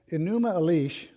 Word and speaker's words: Enuma Elish: The Enuma Elish, Elish rhymes with Hellish, is how to remember how to pronounce that, is the Babylonian creation myth.